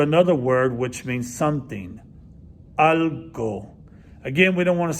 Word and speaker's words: algo: word which means something al go again we don't want to say all go it doesn't like all go like everybody go to get something to get something to eat but it's pronounced shorter algo quiero comer algo